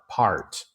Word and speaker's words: part: Ah pot is ah ah ah pot and part is r part.